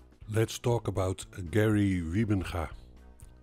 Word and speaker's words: Wybenga: let's talk about Gary ribbinga I know you English speaking People pronounces name by Origin and I like to pronounced to Dutch Way so Gary rybenga and is a cute